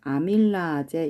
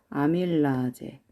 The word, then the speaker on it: 아밀라제: 저희 이거 지금은 아밀레이스 이렇게 나오는데 평소 어떻게 발음할 수도 있냐면 아밀라제 이렇게 발음하기도 하거든요. 들어보셨을 것 같아요. 아밀라제 이렇게 발음하기도 합니다.